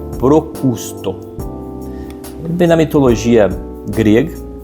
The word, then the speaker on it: Procusto: A tendência é que a gente fala é procrusto, procusto. Então, não se desanime se você pronunciou errado, porque às vezes eu também pronuncio errado, mas o correto é procusto.